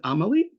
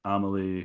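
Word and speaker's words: Amélie: I'm gonna is it Amelie? I Amelie, always perfect. Nailed okay it. Yes.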